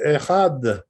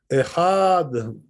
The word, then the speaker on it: אחד: You should say echad. The aleph should be quite short, not too long.